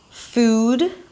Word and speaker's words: food: The first thing I can tell you is that these two sounds are different in length. Right? Okay, so it's not food and food, but one is definitely longer, double the length of a very neutral single vowel, food, and the other one is super short, super relaxed, foot, pool, pull.